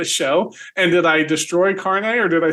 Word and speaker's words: Kearney: And did I destroy Kearney or did I say it right? Oh, you got it. You got it. It's right. Kearney, okay.